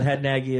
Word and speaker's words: Hadnagy: But Hadnagy is the proper pronunciation, at least for America.